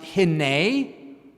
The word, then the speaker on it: hinneh: It's pronounced hinneh.